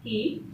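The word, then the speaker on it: χ: Now here the symbol here I'm going to, which appears to be like that of the as the X, but I'm going to pronounce it as key.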